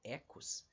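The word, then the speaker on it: οἶκος: a primeira palavra aqui que se escreve desse jeito Oikos mas que a gente lê na verdade em grego como ecos e a palavra Logos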